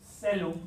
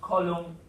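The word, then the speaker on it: caelum: So just in Latin, celum means heaven. This is the word for the color blue comes from it. I know it's CO and not CE, but you pronounce it not column, but celum.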